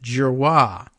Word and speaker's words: Giroir: Pronounced Giroir.